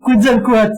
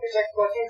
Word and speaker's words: Quetzalcoatl: Alors, moi, je prononce Quetzalcoatl, mais c'est la même chose. Oui, alors Quetzalcoatl, c'est du Nahuatl, donc c'est une langue amérindienne, Maya, etc., qui sont les Mayas. Je connais pas la prononciation de ça, je le prononce à la française.